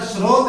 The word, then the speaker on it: स्रोत: इसका उच्चारण स्रोत है, इसका उच्चारण स्त्रोत है। दोनों अलग अलग है, दोनों के टुकड़े अलग है, दोनों की शक्ल अलग है, दोनों की लिखावट अलग है, दोनों का उच्चारण भी अलग है।